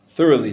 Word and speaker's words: thoroughly: dough to ferment more thoroughly. The G is silent here too.